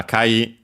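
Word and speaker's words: 赤い: then we have uh akai be careful because uh unlike other uh adjectives from names of colors uh this one is unacented the other ones Uh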